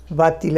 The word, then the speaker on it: va-t-il: এই va-t-il, va-t-elle কেন একটা টি এসেছে? ইলভাটা উল্টে ওই ভাওয়েল দিয়ে শেষ হচ্ছে বা, ইলটা শুরু হচ্ছে আবার তারপরে আবার একটা ভাওয়েল দিয়ে, সেই জন্য একটা টি দিলে উচ্চারণটা শুনতে ভালো হয়।